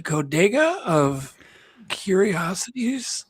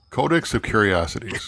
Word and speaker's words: Codex of Curiosities: Is it the Codega of Curiosities? Codex of Curiosities. Codex. There you go.